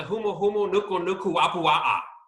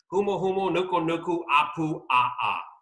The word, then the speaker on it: humuhumunukunukuapua'a: it's the Hawaiian state fish which is the humuhumunukunukuapua'a yes it took me an entire month to learn how to say that and practice humuhumunukunukuapua'a there you go so say that one